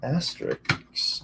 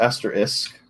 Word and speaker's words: asterisk: bracket jkl f9 uh asterix or asterisk not x it is a common mispronunciation uh f4 f6 what